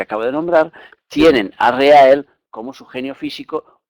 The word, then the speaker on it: Rehael: Como hemos dicho, se llama Reael, si lo dimos en 3 sílabas será Reael.